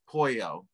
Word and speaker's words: Pollo: this in this case you mispronounced my name so we're gonna we're gonna stop not the recording but just stop it's pollo say it from here like yes oh yeah